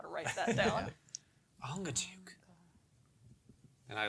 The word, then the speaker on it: Angajuk: His name is Angajuk. A-N-G-A. J-U-K. I'm gonna have to phonetically figure out how to write that down. Ongajuk.